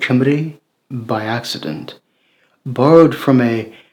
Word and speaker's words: Cimbri: with the Germans, and whose name 20 centuries later happens to rhyme with the native name for the beautiful country I live in, Cimbri.